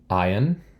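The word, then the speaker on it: עין: overhang all right this is Ion then is also a silent letter we only have two silent letters this is the second one the first one was the first letter of the alphabet Olive here ion is also a silent letter but remember they're still consonants they just don't make a sound all right here's pay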